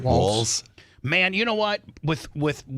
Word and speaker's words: Walz: Walls.